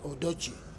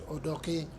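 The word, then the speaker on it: Odoki: justice Benjamin J odok here they wrongly pronounce it odoi it is odok I say so because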